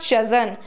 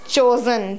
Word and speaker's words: chosen: It's not chosen. It's chosen. Chosen.